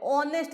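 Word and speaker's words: honest: हां नहीं बोलते हैं हा एक्चुअली साइलेंट होता है इनमें अवर बोलते हैं आर बोलते हैं ऑनेस्ट बोलते हैं ए बोलते हैं ऑनेस्ट ओ बोलते हैं ये सब क्या है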